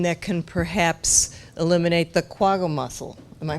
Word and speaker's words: quagga: Is there something that can perhaps eliminate the quagga mussel? Am I pronouncing that correctly?